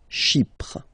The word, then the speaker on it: Chypre: So remember, we've got this Y letter here, but then phonetically when you pronounce it, it's like I, okay? Chypre.